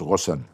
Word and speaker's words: Ghosn: En arabe ça se prononce Rosson et mais c'est difficile Rosson pour des Américains des Français ou des Japonais.